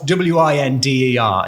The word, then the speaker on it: winder: Window is spelt W-I-N-D-E-R. It's winder. You have to say it like that.